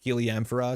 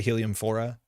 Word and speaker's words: Heliamphora: Heliamphora is probably how you pronounce it. I say Heliumphora. Pronunciation guide, thank you. But yeah, it sounds like Helium 4, which is an older card.